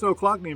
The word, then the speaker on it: Ochlockonee: I don't know all the ranger said, "Oh, clock," and then she pointed to her knee. Ochlockonee. Ochlockonee. That's how you say it. What does Ochlockonee mean?